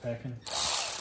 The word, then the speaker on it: pecan: It's pronounced pecan.